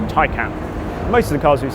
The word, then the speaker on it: Taycan: This is the Porsche Taycan, and that is apparently how you say it. It's not Taycan or Tin Can, it's Taycan.